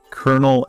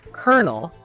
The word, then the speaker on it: colonel: Now, this one's pronunciation is wild. Colonel and colonel. Huh. Yes, English spelling at its finest. Kernel, Kernel.